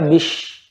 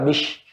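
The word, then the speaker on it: بسم: Ya, kalau di satu gigi atas yang depan kita majui maka bish. Ya, itu juga salah bish. Dia harus hampir sejajar. Dan dia benar-benar di ujungnya itu Pak, tajam dia bis.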